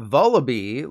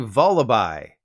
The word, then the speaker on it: Vullaby: form of mandibuzz well I've always called it vullaby like Samantha Bee it's actually vullaby that's because vallabai is a combination of vulture and lullaby except when I think